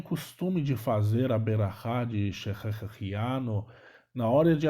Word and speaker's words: berachá: Algumas pessoas, vocês podem escutar a expressão brachá, né? Mas a pronúncia correta mesmo é berachá.